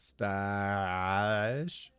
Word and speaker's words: stage: and this is BS a stage pronounced stash for a job at